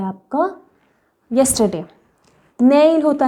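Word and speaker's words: 내일: तो ये ई मिडल में तो आपको पता है ये साइलेंट है, ओके, मिडल बिगनिंग में साइलेंट है, तो नै ई ल ल, ये आपका एंडिंग साउंड देगा तो ल, रियल का ल, नै ई ल, नैल नैल नैल नैल मतलब टुमारो टुमारो।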